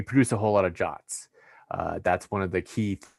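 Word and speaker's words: JWT: the topic uh uh json web tokens they are pronounced jot it is a ietf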